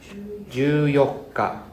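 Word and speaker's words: 十四日: 14 is pronounced as Juyoka. So this yoka is come from 4th day, right?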